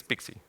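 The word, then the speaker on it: PKCE: So pkc is pixie. It's pronounced like that.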